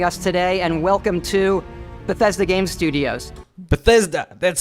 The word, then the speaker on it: Bethesda: much for joining us today and welcome to Bethesda game studios Bethesda that's how you pronounce it I wasn't sure I didn't want